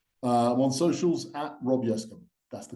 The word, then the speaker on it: Yescombe: I'm on socials at Rob Yescombe. That's the correct pronunciation.